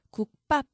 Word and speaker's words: 국밥: 기역 받침 뒤에 연결되는 비읍이 있네요. 자, 그렇다면 경음화, 된소리를 적용을 해야겠죠. 국밥, 이게 올바른 발음입니다. 깎다.